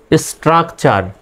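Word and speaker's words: structure: দেখেন STRUC, স্ট্রাক, STRUC স্ট্রাক TURE চার, স্ট্রাকচার।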